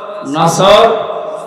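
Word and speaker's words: نصر: আয়াতে না তিনটা সূরা তিন আয়াত বিশিষ্ট আসর নসর কাউসার তার ভেতরে একটা পড়েছি এটা তেলাওয়াত শুদ্ধ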